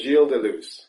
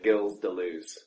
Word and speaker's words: Gilles Deleuze: what's his full name his full name is jel Delo which is if I was going to pronounce that the way it's spelled I would say gills Delo and what nationality would